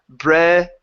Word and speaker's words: breads: We need that D to sound just a little bit more. Breads. Breads. Breads. Breads. Breads. There you go. Good. So, she liked the darker breads the best. She liked the darker breads the best. Breads. Get that z sound in there.